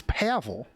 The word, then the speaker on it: Pavel: It's Pavel.